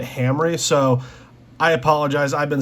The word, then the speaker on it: Hamre: grips from Hamry Forge I've been saying Hammer Forge this whole time but just the other day I heard him talk on a video and they pronounced it Hamry so I apologize I've